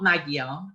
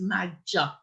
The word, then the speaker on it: Magyar: one sound and we're confusingly it's a j so it's not magyar it's magic like that mag and this also helps